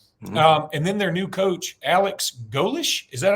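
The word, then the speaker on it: Alex Golesh: And then their new coach, Alex Golish, is that how you say it?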